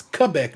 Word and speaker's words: Quebec: for pontiac quebec quebec forgive me how to pronounce that right it's quebec not quebec just in case you ever wonder